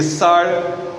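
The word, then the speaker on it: שר: pode ter e vejam em hebraico maravilhoso conselheiro se fala pelar pele de maravilhoso e sar de Conselheiro né quando o judeu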